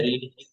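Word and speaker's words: read: Spelling वही रहती है, रीड वाली स्पेलिंग रहती है, पर पढ़ते रेड है थर्ड पर।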